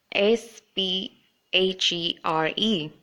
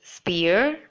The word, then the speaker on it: sphere: is for this word have you been saying it as spear if you have then that is not correct it should be fear with the the pH should be in fact be pronounced as f so it should be